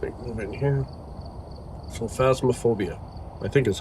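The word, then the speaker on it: Phasmophobia: So, Fasmophobia, I think, is how to say the name.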